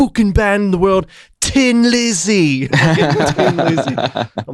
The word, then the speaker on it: Thin Lizzy: correct pronunciation i mean they're irish we're the idiots saying thin like well how stupid are we pronouncing the h you know anyway that's